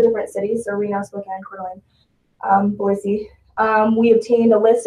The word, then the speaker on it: Coeur d'Alene: Coeur d'Alene, thank you.